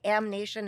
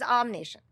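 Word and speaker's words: Ahm Nation: And I spell it AHM because otherwise everyone's going to say Am Nation and it's going to drive me crazy. So the name is Am Nation.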